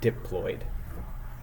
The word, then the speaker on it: diploid: are diploid organisms right that's how you pronounce this word diid we pronounce it diploid so diploid means that